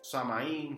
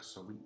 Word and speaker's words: Samhain: tenemos la idea del So samaín si lo quieren llamar así pero la pronunciación es so y Qué significa soin significa fin del verano